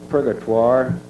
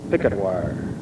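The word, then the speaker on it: Purgatoire: Reclamation and the Army Corps of Engineers I pronounced that prire but a contemporary of mine who is a native of the state of Colorado told me that the proper pronunciation is picketwire but I understand that applies to the river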